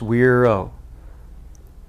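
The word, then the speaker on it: güiro: this latin percussion instrument is called the weirdo pronounced weiro it's performed in with two basic stroke types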